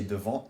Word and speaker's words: devant: So in this instance, there is the T at the end of devant does not become pronounced, even though the word after devant starts with a vowel.